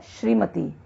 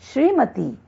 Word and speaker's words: श्रीमती: जैसे अशुद्ध शब्द है श्रीमती, लेकिन इसका शुद्ध है श्रीमती। इसमें त में बड़ी ईकार होता है।